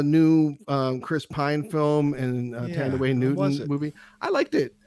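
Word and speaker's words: Thandiwe: Her Tandy is what she went by for most of her career because someone fucked up her name because they couldn't pronounce it or spell it properly. So they went by the shortened version of her name, which was Tandy. But her actual name is Tandaway Newton, which is how she's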